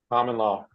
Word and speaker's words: Kamala: was that right Jeremy common law Comm okay Comm on Jeremy came up with a very good respectful way of the pronunciation of the vice president which is a Camala uh common law that's the way to